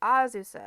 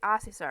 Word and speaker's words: Azusa: Because I had to kind of check myself so I don't say Asusa or something like that. That's why I say it kind of slow so I don't say it wrong.